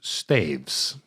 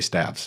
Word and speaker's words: staves: word if I tried if you enter Google staves pronunciation it goes staves and that's how I knew for sure part of wants to say stabs but it's staves uh and as far